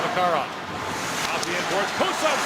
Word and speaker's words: Makarov: But here he's asked for the Russian pronunciation, Makarov.